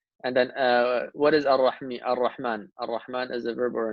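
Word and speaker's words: الرحمن: You know, like why do we pronounce it as Ar-Rahman, not Al-Rahman?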